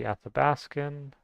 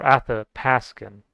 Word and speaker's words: Athapascan: This would be Athabascan or Athapascan. This is so I learned in the Athapascan language they pronounce the B as a P because phonetically this is how they do it.